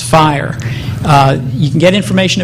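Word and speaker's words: FHIR: Rim called Fast Healthcare interoperability resources and it's pronounced fire uh you can get information about it here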